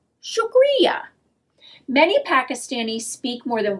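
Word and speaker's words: شکریہ: is how you say thank you and urda shukriya sugria many pakistanis speak more than one language lots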